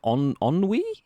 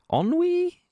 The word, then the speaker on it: ennui: Shogun says Enui is pronounced like Thierry's surname. What? Enre? Nice. Thierry Enre? Nice. Is it Ennui? Ennui?